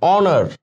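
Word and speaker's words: honour: অনার, অনার ও এন ও আর, এমনি pronunciation হচ্ছে, এইচটা silent হয়ে যাইতেছে।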